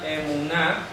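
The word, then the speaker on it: אמונה: al m nun al m nun esto se pronuncia emuná que es la fidelidad y aquí tenemos Amén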